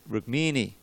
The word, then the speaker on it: Rukmini: The tendency is in English to accent the penultimate syllable. Penultimate is the next to last syllable, and that's why we get Rukmini and Rohini.